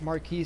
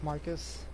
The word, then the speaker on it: Marcus: I said I think I pronounced this thing was Marquis before it's Marcus Marquis is a title walking dolls room what